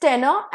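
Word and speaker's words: tenor: The next word pair is टेनर एंड टेन्योर। इसका pronunciation थोड़ा different है।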